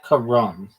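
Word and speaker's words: carrom: Karam the board game is usually pronounced Karam. Not even like Ram. It's Karam. Sounds like Kam. emphasis on the first s syllable.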